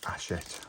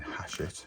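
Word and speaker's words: Hachette: fantastic subscribers brought to talk about I was pronouncing asset wrong um I was saying hash it with her which is the way it looks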